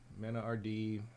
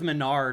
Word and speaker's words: MenaRD: And Is that how you pronounce his name? I always thought it was Menard or something. No, it's Mena RD.